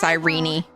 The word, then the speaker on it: Sirene: Tell me, Sirene, how I can't believe it's pronounced Sirene.